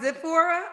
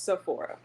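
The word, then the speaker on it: Séphora: Moses's wife is Sephora so Zapora is just like the English version of it okay so it's not zipora what is z in English it is but in French it's Sephora okay so in the French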